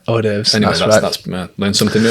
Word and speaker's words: hors d'oeuvres: Looks like becomes it's a silent D, isn't it? Yeah. Hors d'oeuvres.